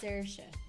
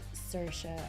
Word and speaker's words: Saoirse: It's Saoirse, but it's easier for Americans and English people to say Saoirse or Sasha. What was the difference? Saoirse is how Irish people say it.